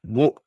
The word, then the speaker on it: を: Embora a partícula seja escrita com o reir ganal o , a pronúncia correta é apenas o.